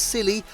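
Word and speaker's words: Scilly: for couples looking for a romantic escape the silly Isles pronounced yes as silly can be reached via air or Sea and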